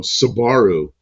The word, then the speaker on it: Subaru: in the late 60s they called him sabaru the Subaru star and the Subaru 360 and then all of a sudden they were Subaru and I thought they were kidding I thought somebody mispronounced it but no no they were Subarus they mispronounced it first hope the wipers isn't